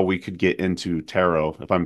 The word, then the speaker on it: tarot: or teach us how we could get into tarot if I'm saying the word correctly I've heard it pronounced few different ways yeah you are saying